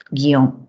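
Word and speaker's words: guion: Tenemos una única sílaba, ¿no? Guión. No se puede segmentar, porque la I y la O forman diptongo. La U no tiene sonido alguno porque acompaña la G. Por lo tanto, tengo una sola sílaba.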